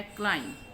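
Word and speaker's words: climb: जैसे ये देखें आप, ये है क्लाइम, हम क्लाइम पढ़ते हैं, बी जो है वो इसमें साइलेंट है, क्लाइम नहीं कहते हम क्लाइम, ठीक है।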